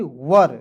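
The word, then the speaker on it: were: उसके बाद देखेंगे डब्ल्यू ई आर ई। तो इसे पड़ेंगे वर।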